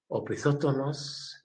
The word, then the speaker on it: opisthotonos: Opisthotosis, curving of opisthotonos is a curving of the back, opisthotonos, and it is spelled O-P-I-S-T-H-O, opisthotonos, T-O-N-O-S, opisthotonos.